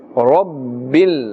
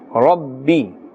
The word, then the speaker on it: رب: Alhamdu lillahi Rabbil Alameen. Rabbi. Can you see the ra? The ra has a fatha and therefore it's pronounced with a full mouth. We will not say Rabbi. Rabbi is incorrect.